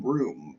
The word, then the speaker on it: Bruttenholm: Why is his name pronounced Broom? It should not be that.